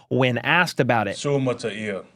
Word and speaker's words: Suamataia: Then, the second-round pick Kingsley Suamataia let everyone know how to properly pronounce his name when asked about it. Suamataia, Suamataia, Suamataia.